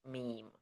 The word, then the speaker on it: meme: This word is pronounced meme. One syllable rhymes with scream.